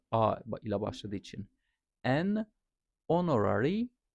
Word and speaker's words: honorary: A ile başladığı için honorary degree yani o ile başlıyor burada H okunmadığı için NP yukarıda bahsettiğimiz gibi E ile başlıyor burada an ss officer E ile başlıyor.